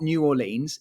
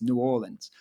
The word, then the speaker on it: New Orleans: and he told me he's like no it's not New Orleans it's New Orleans I'm like okay got